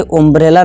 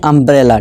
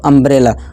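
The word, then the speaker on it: umbrella: इसी तरह इसे उम्ब्रेला नहीं अम्ब्रेला। ठीक है दोस्तों, अम्ब्रेला।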